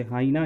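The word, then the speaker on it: hyena: Kangaroo जिसको हम लोग बचपन से बोलते हैं ना, तो ये कैंगरू प्रोनाउंसिएशन इसका होगा, कंगारू हिंदी। जैकल, जैकॉल नहीं, इसको जैकल बोलते हैं, जिसको सियार होता है। और लकड़बग्गा का होता है बच्चे हाइना, हीना नहीं।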